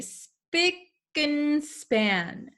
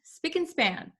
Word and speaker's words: spick-and-span: although we have and here usually when we pronounce this word we say speaking span speaking span speaking span so we can say it very quickly and